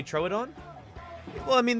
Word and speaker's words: Troodon: right way to say troad on well I mean there's there's various ways tomato potato throw it on true Don true Odon I've heard dinosaur paleontologists say all three of those in fact